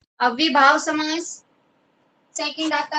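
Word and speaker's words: अव्ययीभाव: पहले तो आपको इनका उच्चारण आना चाहिए सभी को। अव्ययी, अव्यय होता है ना, अव्यय, उसमें ये पे बड़ी की बात है।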